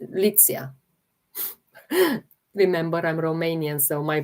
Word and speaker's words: Litsea: Litzia. Uh um that's how I pronounce it. Litzia. Maybe some people pronounce it differently. Show the name again please. Litzia. Uh let me spell it for you. L I T S E A. Lit. Litzia.